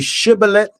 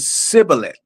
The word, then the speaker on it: shibboleth: And one tribe was able to say shibboleth and the other tribe said sibboleth. And you would know who was on which side because of the pronunciation.